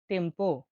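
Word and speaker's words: tempo: দেখুন টি। টি এর উচ্চারণ ইতালিয়নে হয়ে থাকে তের শিকারে তি হিসেবে। তিটা উচ্চারণ হয়ে থাকে তি হিসেবে। উদাহরণ দেখুন টেম্পো টেম্পো টেম্পো মানে হল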